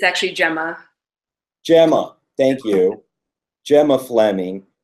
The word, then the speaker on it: Gemma: all right we are live with filmmaker gamma Fleming Gemma Fleming writer director San chez gam am i pronouncing correctly it's actually Gemma Gemma Thank You Gemma Fleming and Gemma a